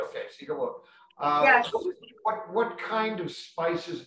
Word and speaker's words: Siga Wot: Am I pronouncing that right? Okay, Siga Wot.